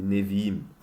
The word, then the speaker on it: Nevi'im: Et sinon, après, il y a les prophètes qui sont appelés aussi, dans un terme hébraïque, les Nevi'im.